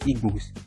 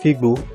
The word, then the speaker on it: Igbo: The pronunciation of Igbo as an ethnic group and Igbo as bush in Yoruba is not the same, but as per time, it could have been later corrupted to Igbo.